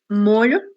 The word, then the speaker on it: molho: Eh, a ver, Nieves, como nós fazemos a leitura dessas duas primeiras palavras? Ilha, molho. Isso. Perfeito. Então, observem a pronúncia da colega de vocês. Ilha e molho, OK?